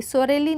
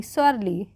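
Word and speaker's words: sorely: सोरेली नहीं स्वरली।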